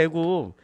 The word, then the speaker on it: 애굽: 그래서 이집트는 뭐라고 발음을 해요? 애굽이라고 그러죠. 이게 맞나? 애굽 쓸 때마다 이게 애굽인지 이게 애굽인지 아니죠.